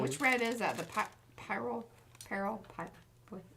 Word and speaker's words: pyrrole: The pyrrole?